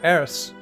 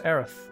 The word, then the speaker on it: Aerith: is more bad memories I always call her Eris it's not as aerith I always pronounce her name wrong hello we'll be passing